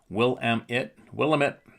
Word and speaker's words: Willamette: Yes, you can use my name and some of the emails from Oregon and the Willamette, pronounced Willamette, in our area.